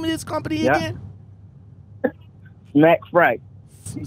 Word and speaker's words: Smacc Freight: Smacc Freight.